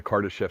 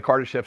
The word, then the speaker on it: Kardashev: The my pronunciation of it is the Kardashev scale.